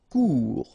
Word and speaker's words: court: Court. Final T not pronounced. Court. Remember, when you combine this O and U together, you get the sound OU. Court.